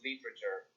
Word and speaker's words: literature: Sí, rápidamente en español, a veces sí, palabras que tienen cuatro sílabas quedan en tres. Este es un ejemplo de ello. Podría ser literature, pero no, lo pronuncias literature.